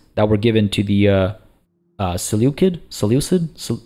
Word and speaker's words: Seleucid: were given to the Seleucid? Is it a hard C?